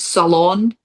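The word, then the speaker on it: Ceylon: There's a particular type that you should be looking for and it's called salon. Salon, like salon. Salon. It's actually spelled C E Y L O N. That's how it's spelled.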